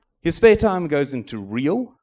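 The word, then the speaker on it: Reahl: spare time goes into real which is re a l with a silent h a collection of projects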